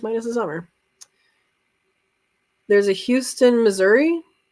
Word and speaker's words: Houston: Houston, Delaware is pronounced Houston.